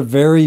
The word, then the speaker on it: very: Last one is the V versus B. So we have very and we have berry. Now, this isn't a problem for all Spanish speakers, but some may have this problem.